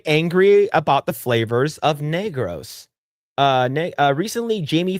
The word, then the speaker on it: Negros: Hate to break it to Americans, but Negros uh is an island in the Philippines.